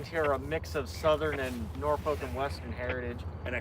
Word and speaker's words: Norfolk: It is not Norfolk. Norfolk. It's Norfolk. Norfolk. Yeah, right. You go to England where Norfolk came from.